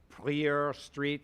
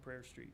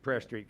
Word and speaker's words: Prayer Street: that so it'll go prer Street and then Joy dogs prayer yeah it's pronounced prayer Street prayer Street gotcha I was trying to be French yeah yeah um okay